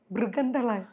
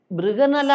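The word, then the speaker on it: ബൃഹന്നള: മൃഗന്തള അപ്പോ മൃഗന്തള എന്ന അവരുടെ ഉച്ചാരണം മൃഗനല്ല അതായത് അർജുനൻ ഉർവശി ശാപം കൊണ്ട് അർജുനൻ ഒരു പെണ്ണായി മാറിയ ഒരു സംഗതിയുണ്ട് കഥയിൽ ആ പേരാണ് അപ്പോ അത് ബൃഗനല എന്ന് വിളിക്കാൻ പറഞ്ഞു അപ്പോ ഞാൻ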